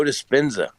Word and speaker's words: Dispenza: Joe Dispenza. He's this guy. Anybody out there in Discord read Joe Dispenza? Like, spell that last name.